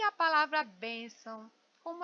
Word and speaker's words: bênção: Então eu chamo bênção. Olha, eu demorei mais na bem, sílaba bem. Bênção. Vem cá, bênção, né? Então, bem é a sílaba mais forte, muito embora as duas sejam acentuadas.